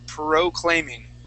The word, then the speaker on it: proclaiming: So we're going to say proclaiming.